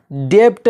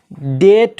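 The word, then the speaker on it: debt: silent हो जाता है जैसे डीई बीटी क्या होना चाहिए था डेप्ट होना चाहिए था लेकिन डेप्ट नहीं होगा बल्कि डेट होगा क्यों क्योंकि यहां पे बी साइलेंट है जो टी से पहले आया है इसी तरह डाउट डाउट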